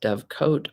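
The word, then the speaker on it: dovecote: the end of the year today's word is dove cut Dove coat or dovecot d o v c o t it can also be spelled without the last e and it's pronounced Dove coat or dovecot this is a noun that means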